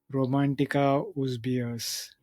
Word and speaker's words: Romantika Uz Beas: Now coming to Romantika Uz Beas.